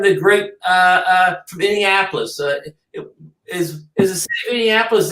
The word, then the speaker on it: Indianapolis: great uh uh from Indianapolis is is a city Indiapolis in Indiana is it no I'm saying it wrong he's from Indiapolis not Minneapolis Indi Indian Indianapolis is Indiana yeah yeah flies a